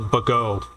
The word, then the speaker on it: Bogo: Bogo City, or as they pronounce it, Bago, is a real town.